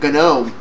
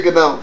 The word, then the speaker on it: GNOME: shouldn't be calling it GNOME. GNOME. I could care less. Navy conventions don't matter to me when it comes. Oh, I know. I'm sure the G is silent.